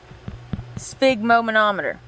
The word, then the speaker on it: sphygmomanometer: the blood pressure cuff is actually called a sphygmomanometer yep and now you know why we call